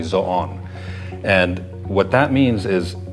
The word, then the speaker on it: Zoon: It's not supposed to be pronounced Zoo. It's actually Zon.